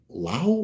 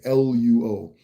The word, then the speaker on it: Luo: like old Acholi and Lao. Why am I not saying this right? I know how to say it, it's just not coming to me. Luo.